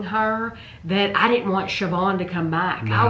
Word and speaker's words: Siobhan: Siobhan. It's spelled completely different than how you She's say Irish, I think.